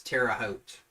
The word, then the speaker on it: Terre Haute: indiana am i understanding the way you say that is terre haute and i know he's not from this country but that's how you say it terre haute and that's the case